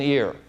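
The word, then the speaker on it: עיר: for City the original the language is ear like your your ear only that's uh that's how you pronounce it but that's the word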